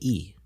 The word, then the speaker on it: Lee: Lee or is it E? Okay. Am I mispronouncing something? I mean, essentially, yes. I am. I believe that when the L comes at the beginning of a name or a word, it's silent.